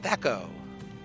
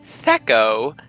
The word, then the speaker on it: Thaco: My name is Thacko." Thacko, nice to meet you too. Okay. A smile. Yep. So I'll even put it in, and it's spelled Thaco. Thacko.